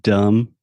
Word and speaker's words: dumb: should because the word dumb we don't pronounce that last B so that's a silent B and no I'm just